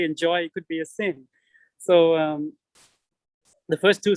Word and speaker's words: SYN: and so on so when you pronounce sin it sounds like s-i-n which is uh also